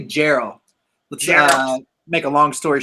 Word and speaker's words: Jarl: super Frost Josh and is Jarl is is that how you pronounce it dude actually Geral let's make a long